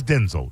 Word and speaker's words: Denzel: Oh, he he's Denzel. That's how you pronounce it.